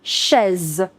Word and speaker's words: chaise: Remember I told you the pronunciation of CH in French is sh. So une chaise.